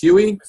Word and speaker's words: Huy: nutrition and he does not his name is pronounced Huey as you can see on the screen he